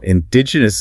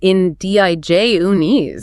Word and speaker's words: indigenous: Indigenous is a notoriously tricky one. People want to say indigenous, putting the stress on the first part. The stress actually falls on the second syllable. It is in-D-I-J-unis.